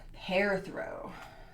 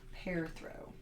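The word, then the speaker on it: Perthro: don't come at me this room is pronounced hair throw hair throw and it's known as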